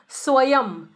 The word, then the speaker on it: स्वयं: तो वहां पर यह नियम है कि जब बिंदी आखिरी वर्ण पर लगती है तो वहां पर हमेशा म का, आधे म का उच्चारण होगा।